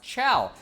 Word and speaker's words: Chao: pet things you raise the Chow are pronounced ciao you think it would